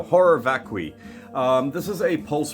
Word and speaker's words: vacui: I can't pronounce that v-a-c-u-i vacui vakui vacui vasui vacui I think it's vacui horror vacui I know what